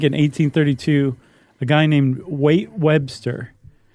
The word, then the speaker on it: Waite: I think in 1832, a guy named Waite Webster. It's either Waite or Wyatt, but it's spelled like Waite, W-A-I-T.